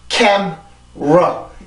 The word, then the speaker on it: camera: 우리는 보통 camera라든지 카메라 이렇게 읽었었는데 이거는 2음절이에요. camera 이렇게 발음이 되는데 이 소리는 영어 발음의 특징이에요. 우리나라 발음과 똑같지가 않고 영어 발음은 영어 발음대로 소리가 나야 돼요.